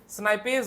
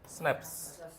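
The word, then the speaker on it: synapse: है इस जंक्शन को स्नाइपज बोलते हैं क्या बोलते हैं स्नाइपज बोलते हैं स्पेलिंग बताना स्नाइपज के स्नेप्स सनस है ना सिनेप्स बोलते क्या बोलते हैं सिनेप्स बोलते हैं कुछ इस तरह से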